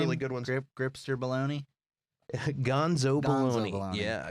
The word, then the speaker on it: Baloney: It's baloney, not the way real baloney is spelled.